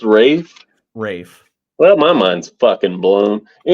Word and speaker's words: Ralph: his names and it's Rafe Wikipedia is not gospel I didn't say Wikipedia oh I me YouTube sorry I'm on Wikipedia so it's spelled Ralph it's pronounced Rafe Rafe well my mind's